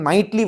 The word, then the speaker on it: knight: नाइटली virtues है, यानी कि नाइट वाली वर्चू, के साइलेंट है इसमें, ठीक है।